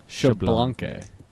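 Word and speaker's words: Xbalanque: name everybody's saying it's blanket it's actually it's actually blanket yes but the second syllable is extremely fast yeah that's I mean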